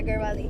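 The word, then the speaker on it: Garhwali: some of the work you've done with the garwali is that is that how you pronounce it yeah garwali all right so um basically on the 21st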